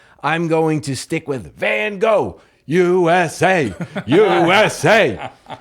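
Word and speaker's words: Van Gogh: So, um, again, I'm presenting Vincent William Van Go or Van if I was attempting to pronounce it properly in Dutch.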